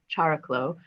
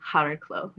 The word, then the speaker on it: Chariklo: And so his wife, which is another celestial body, is named after his wife, which we call Chariklo, and that would be Hariklo. So that's how to pronounce it, and really comes from Chiron comes from the Greek word for hands, right?